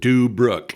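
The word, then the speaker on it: Deubrook: County and Brooking County and they called it dub Brook it's spelled D e u b r o o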